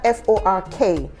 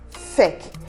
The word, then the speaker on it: fork: The first symbol you have in A-L-L, go look at F-O-R-K. And you also get to see that symbol in between the sounds F and K. Okay. So we should say fork, and not feck.